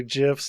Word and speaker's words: GIF: I'm pretty sure the guy that because like the guy who created the file type pronounces it GIF. I've always read it as a soft G, and I just stuck with it.